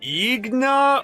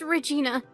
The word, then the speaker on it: Regina: How exactly do you pronounce that? Is it like Igna or, It's just Regina.